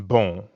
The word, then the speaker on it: bon: Like the on in bon. Exactly. Bon in bonjour is spelled B-O-N. But you don't pronounce that O-N the way you would in English.